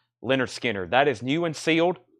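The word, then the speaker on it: Lynyrd Skynyrd: Van Halen self-titled and Leonard Skynyrd pronounced Leonard Skinner that is new and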